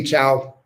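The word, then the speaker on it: chau: yep in uh rick in ecuador they say ciao some people say hasta luego but it's really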